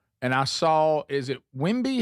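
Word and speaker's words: Wembanyama: Four TVs in here, and I saw, is it Wimby? How do you say his last name for the San Antonio Spurs? Wimyama.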